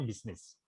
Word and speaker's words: business: Itu tulisannya business tapi bacanya bisnis.